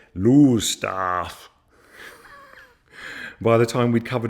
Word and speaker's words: Lowestoft: up onto the cliffs typically town names aren't pronounced how you'd read them and I thought we'd stopped in Lowestoft for a break but it turns out they call it lose staff by the time we'd